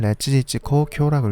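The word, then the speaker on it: 烈日紅鏡: 일본어로는 레츠지츠코 쿄라고 읽습니다.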